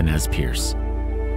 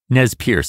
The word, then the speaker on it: Nez Perce: Nez Perce is a mispronunciation of the French term for them, Nez Perce, meaning pierced nose.